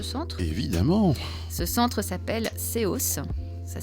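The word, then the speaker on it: SEOS: nom de ce centre évidemment ce centre s'appelle COS ça s'écrit s e o s pour service d'écoute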